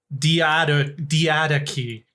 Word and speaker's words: Diadochi: So it says in standard British English it's diadochi.